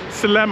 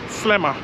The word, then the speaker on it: Sliema: to I said um slma I pronounced it wrongly he said no it's slma Slammer he said between me and you it's called Slammer oh that was so